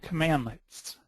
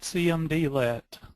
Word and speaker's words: cmdlet: Powershell commands are called commandlets and it's pronounced commandlet not cmdlet and command LS are